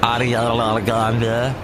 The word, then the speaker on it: Ariana Grande: Played the new Ariana Grande, and that's how you say it, Ariana Grande.